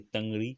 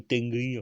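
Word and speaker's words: Tanrı: Tanri, donc qui se prononce en fait Tangri, je crois. Ou Tengri, enfin un mot comme ça, hein.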